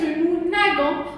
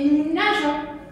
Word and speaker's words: nageons: Enfin, les verbes qui se terminent par G, E, R, on n'oublie pas de laisser le E avec le nous. Pour la phonétique, pour la prononciation.